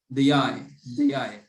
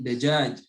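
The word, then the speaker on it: دجاج: Tapi ini dajaj aslinya, dajaj. Atau kalau orang Mesir bilangnya apa? Dagag. Karena jim jadi to, jadi ghain. Dagag. Nah, kalau orang UAE atau Qatar kadang dayai. Nah, yang fusha, yang benar pengejaannya adalah dengan jim, dajaj.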